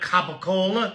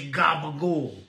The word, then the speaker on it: capicola: but Sicilians always turn the C into a G. Like galamad. Like instead of calamad, calamari, it's galamad. Like instead of capicola, it's gabagool. That's, it's not just slang, it's the Sicilian dialect. We pronounce the C's G's.